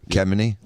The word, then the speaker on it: Khamenei: The mullahs and the Ayatollah Khamenei. It's like Khomeini, but Khamenei.